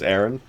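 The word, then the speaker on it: Aran: name is saris is a samus iran which could also be pronounced as aaron oh my god this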